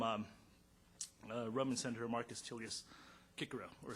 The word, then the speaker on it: Cicero: one quote from um roman senator marcus tilius kikerow or cicero and he stated uh salient nm vegas inter